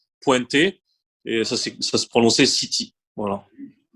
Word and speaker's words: Ceet: Donc on prononce bien City et pas comme certains, hein.